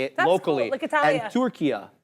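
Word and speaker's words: Türkiye: say it locally and Tura right you don't say turkey anymore you're saying Tura right which is how it's said in Arabic which funny enough but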